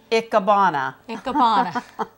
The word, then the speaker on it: Ikebana: And pronounce that again for me, please. Ikebana.